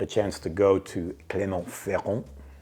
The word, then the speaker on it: Clermont-Ferrand: chance to go to Clermont-Ferrand, saying it like a boss. You don't know how many times I practiced that with Pierre. He was helping me with that, the French pronunciation of Clermont-Ferrand.